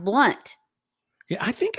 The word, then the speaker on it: Blount: here starflower said that her sister's name married name is Blount but it's pronounced blunt yeah I think it's